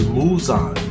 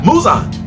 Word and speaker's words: Muzan: the main villain himself which is muzon am i saying it right um yeah muzan i'm sorry i'm